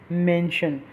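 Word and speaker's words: mansion: उसके बाद option be मेंशन। मेंशन जो होता है वो एक होता है MENTION, उसकी भी प्रोनाउंसिएशन यही होती है लेकिन वर्डिंग में फ़र्क होता है।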